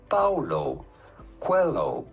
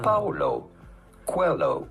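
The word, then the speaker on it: Paulo Coelho: How do you go about pronouncing his name? Paulo. Quelloo. Quo. Paulo. Quelloo.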